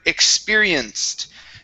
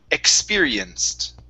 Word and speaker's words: experienced: The ed ending here because the c produces an s sound. The ed is pronounced like a t. So this is experienced. Okay. experienced. Okay, good. Now that T was better. Okay, let's get the X right. So, this is going to be like a Ks sound.